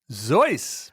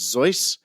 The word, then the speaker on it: Seuss: uh it's a zo zoy but spelled with a spelled with an S at the beginning uh yeah I think the actual German pronunciation is zoy zo and actually uh